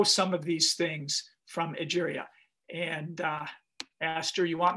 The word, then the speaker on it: Egeria: I didn't know if it was Egeria or Nigeria. I couldn't hear. It starts with an E and it's pronounced like Nigeria.